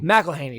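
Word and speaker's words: McElhenney: yeah a cameo from Rob how do you pronounce his last name uh Rob McKenry Melaney Mel Haney that's right um Rob melany's Cameo from Deadpool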